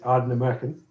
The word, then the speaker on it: Ardnamurchan: our um look there there's the easy version and there's the local version that's that's a simple way of saying it the easy version is AR American okay and the local